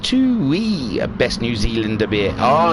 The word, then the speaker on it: Tui: marking the chat saying it's pronounced two wee best new zealander beer